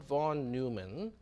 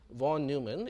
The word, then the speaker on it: von Neumann: in question is john von neumann and i was corrected by a few people that it's not supposed to be pronounced von neumann it is von neumann so john von neumann